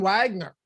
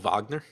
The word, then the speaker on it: Wagner: i i called him wagner the first time but okay now whenever i see wagner yeah i'm just gonna pronounce it as the germans would yeah yeah i actually